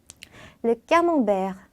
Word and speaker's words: camembert: 자, 프랑스어로 정확한 발음으로 어떻게 읽냐면 Le camembert, Le camembert, Le camembert, le camembert, Le camembert. le camembert, 자, 이렇게 세, 아 발음이 붙어 있을 때는 까가 아니라 꺄라고 읽어주셔야 되거든요. 그래서 까몽베르라고 읽어주시면 되겠습니다.